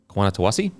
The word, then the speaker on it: Nawaqanitawase: Nawaqanitawase.